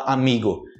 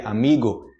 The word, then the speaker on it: amigo: amigo hoje amigo amigo em português seria amigo Ok Lembrando que amigo está correto aqui mas a gente fala amigo no final amigo carro também é